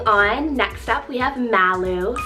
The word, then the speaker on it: Malu: list, or any other edgy 1 to 2 syllable names for girls that you have. Moving on, next up we have Malu, spelled M-A-L-U, Malu.